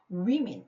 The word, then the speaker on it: women: woman은 여자라는 단수고 여기서 women 이렇게 하면 여자의 복수 형태가 돼요. 발음이 다르죠. 단수는 woman 이렇게 발음하고 복수는 women 이렇게 발음을 하기 때문에 기억을 해두시고 women like